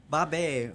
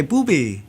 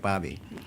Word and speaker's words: Baabe: And I said, well, I need to change the spelling so that phonetically it sounds like Baabe.